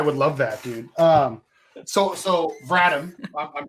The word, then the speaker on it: Vratim: So Vratim, I'm pronouncing that right, correct?